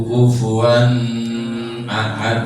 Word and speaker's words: kufuwan ahad: Ya, tidak boleh didengungkan ya, jangan sampai baca karena ngikuti irama lalu bacanya walam yakul lahu kufuwan ahad, tidak boleh. Itu idhar halqi, jelas.